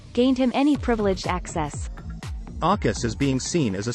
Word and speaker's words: AUKUS: How do you even pronounce Aukus? Something along the lines of awkward came the rise suggestion from one Brussels diplomat this week.